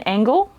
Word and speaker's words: angle: The Human Angle. I pronounced that right instead of my brain thinking it was going to say Angel, but I actually pronounced angle like I should.